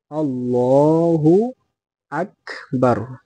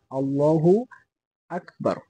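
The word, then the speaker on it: اللهُ أَكْبَر: হলো মূলত সঠিক উচ্চারণ আল্লাহু আকবার এখানে অনেকে আমরা ভুল করি কি এই যে হামজা লাম জবর আল লাম খারা জবর লা এখানে বলি আমরা কি আল্লাহ এখানে আল্লাহ হবে না আল্লাহু আল্লাহ হবে হাফেশ হু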